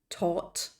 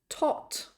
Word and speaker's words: taught: swept swept to teach listen for the GH that isn't there again teach taught taught teach taught taught to